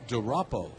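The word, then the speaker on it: DuRapau: First name Montana, and the last name is spelled D-U, capital R, A-P-A-U, Montana DeRoppo.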